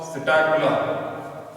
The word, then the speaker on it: Psittacula: So the pavo, peacock, psittacula, P is silent, parrot.